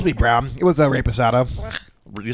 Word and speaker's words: reposado: Did you say rape asado? Yeah, because I know how to actually speak Spanish a little bit. It's not reposado. That's not how you pronounce an E in Spanish, bro.